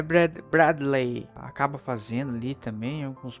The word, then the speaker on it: Bradley: Tá, como é que pronuncia? É Bradley.